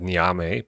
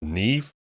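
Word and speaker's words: Niamh: Some people say Neve or Neva or something. I don't know. Well, the champion that I'm talking about is this one right here, right? With the block damage passive. I always said Niame, but I don't know. Apparently, this is pronounced Neve.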